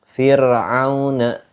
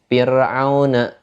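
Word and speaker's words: فرعون: Contohnya apa? Kalimat Fir'auna. Fir'auna. Fir'auna. Ketika kita membaca huruf ro-nya itu dibaca tipis. Enggak dibaca tebal, baca tipis. Fir'auna.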